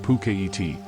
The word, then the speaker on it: Phuket: The island of Phuket, pronounced Phuket, is linked to the mainland by Sarasin Bridge